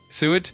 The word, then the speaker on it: Seward: I don't think it's Seward. I think it's Seward. Quinn, you still there? Absolutely. I'm here. And yes, you got it right. It's pronounced Seward. Thanks for the shout out to MagLab 527 from Seward, Alaska.